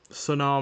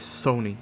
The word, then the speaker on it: Sony: So yeah, but nonetheless, let's get out onto the Son circuit and see what this car can do. So yeah, mispronounced the track name. It is Sony circuit.